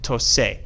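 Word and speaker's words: tocé: No, it's not pronounced toque, it's pronounced tose, because the C in front of an E or an I is going to take a S sound.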